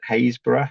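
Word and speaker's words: Happisburgh: This one shows the the coast at Hayesborough at Papisburg as it's spelled which is up on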